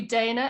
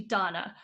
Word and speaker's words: Danna: said to me that so many people say your name wrong and most people call you dana and it's actually donna yeah exactly that's a